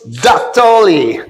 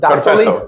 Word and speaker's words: Dattoli: Dattoli. Did I say it right? You said it perfect. Dattoli?